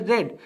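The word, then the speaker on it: Reed: বা তোমরা এটা কিন্তু স্যার একটু ডাবল ই দিয়ে দিছে যাক এর উচ্চারণ হচ্ছে রেড ঠিক আছে সো ইয়েলো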